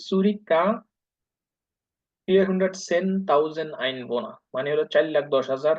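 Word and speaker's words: Zürich: জুরিক, এটা উচ্চারণ হলো সুরিকা 410.000 Einwohner, মানে হলো 4,10,000 রেসিডেন্ট।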